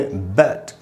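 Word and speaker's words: bat: बैट में ए का ये सिंबल है, जिससे ए का साउंड निकलता है। ए को मैंने अंडरलाइन किया जिससे कि हम ये समझ सकें कि वहाँ पर स्ट्रेस है, इसलिए इसको हमको ऐसे पढ़ना चाहिए, बैट।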